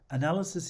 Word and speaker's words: analysis: all sorts of reasons analysis is stressed on the second syllable and so is its plural the singular has a schwa at the end analysis and unvoiced s the plural has a